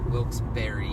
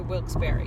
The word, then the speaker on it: Wilkes-Barre: No, it reads Wilkes-Barre. But there's an E at the end. And so the locals say Wilkes-Barre, and it makes no sense in my head.